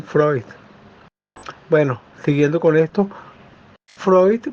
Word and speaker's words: Freud: pero en otros países de latinoamérica le dicen Simon freut también es válido porque el nombre este si uno lo ve en español lo leemos en español es Simon freus claro uno lo quiere pronunciar como se pronuncia en la lengua original de Simon Freud bueno siguiendo con esto